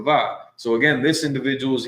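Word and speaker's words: ו: When this person took Hebrew, the wa was wa, but in today, more recent Hebrew grammars, it's the va.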